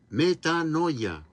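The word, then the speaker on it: metanoia: las traducciones al español, se se pronuncia y se escribe metanoya.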